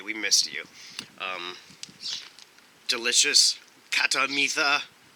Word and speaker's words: Khatta Meetha: missed you um delicious katamita katamita sorry they don't pronounce the h i looked it up catamita snack mix mostly sweet